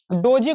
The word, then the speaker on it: DOGE: इसके बाद दोस्तों यहां पर डोजी कॉइन है। डोजी कॉइन को डॉग भी बोल सकते हो, क्योंकि यहां पर इसका स्पेलिंग हो जाता है DOGE, ठीक है।